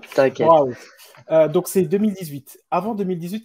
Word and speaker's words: Bauhaus: Brown House, je le prononce Bauhaus. mal. Bauhaus, désolé, je le prononce mal. T'inquiète. Bauhaus.